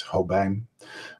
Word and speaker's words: Hobijn: bark I'm the professor my last name is Ho bang but since that's hard to pronounce I just go by my first name